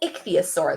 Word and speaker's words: ichthyosaur: to say this word if you look in the parentheses it tells you how to pronounce it so we can sound it out together Nick see a sore Ixia sore it's called an ichthyosaur the man told her